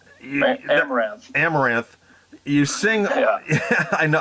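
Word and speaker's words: Amaranthe: You also sing, and I always pronounce this band name wrong. I hope I'm going to get it right here. Amaranth. Amaranth. Amaranth.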